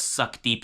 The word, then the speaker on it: Sukhdeep: So it's spelled Sukh. The H is silent, I believe. Then the Deep, Deep. So I actually believe this is actually pronounced as Sukhdeep Singh.